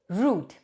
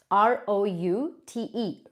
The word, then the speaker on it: route: India we all say root. R O U T E. Root. The correct pronunciation is not root. It's route.